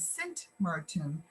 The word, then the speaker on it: Sint Maarten: new, and that is when you speak about the island as a whole, we call it Saint Martin, Saint spelled out. But when you talk about the French side, it's Saint Martin or Saint Martin, and the Dutch side is Sint Maarten, of course, with the Dutch pronunciation.